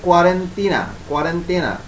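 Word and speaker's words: quarantena: এটার আসলে মেইন উচ্চারণটা এটা হচ্ছে ইতালীয় ভাষা, ইতালি থেকে উৎপত্তি। আচ্ছা, এটার মানে কি? এটার আসলে অরিজিনাল উচ্চারণ হচ্ছে কি কোয়ারেন্টিনা, যেটা হচ্ছে তোমার ইংরেজি শব্দ।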